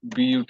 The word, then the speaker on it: but: Like PUT is pronounced as put, whereas BUT is pronounced as but. Both places we are using the same vowel, U, but the pronunciation is different.